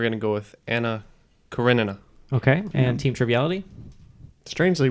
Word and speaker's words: Karenina: So there's a work I'm thinking of, and I might even be saying the name wrong, but it's like Anna Karina or something like that.